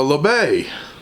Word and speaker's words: L'abeille: other side of it called a la bay uh and french i guess that's how you say it it's got the b on there number 76.